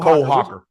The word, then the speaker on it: Hocker: Hoker? Is it Hoker? How you say it? Yeah, 1500. Cole Hocker.